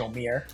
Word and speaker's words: Omir: have started of uh how I pronounce my name so it's actually omir um so I'm originally